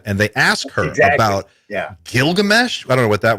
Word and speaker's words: Gilgamesh: And it's pronounced Gilgamesh.